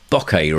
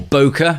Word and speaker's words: bokeh: That's like a bit of bokeh really, or bokeh, however you like to pronounce it, or an oofa, as we like to say in Photobuzz.